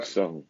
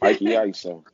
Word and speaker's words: My'Key Iso: Pronounce it for ISO. me. Mikey ISO.